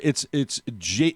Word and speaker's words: jaguar: It's not wire. It's not Jagwire.